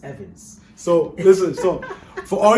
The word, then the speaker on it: Evans: is like no no that's not how it's pronounced here it's evans so listen so for all you guys watching my room name is evans it's not we just got tired of